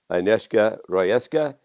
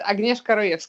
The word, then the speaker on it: Agnieszka: calm my guests today anishka Roy ESCA she is say it correctly oh it's Agnieska yes you're pretty close thank you she has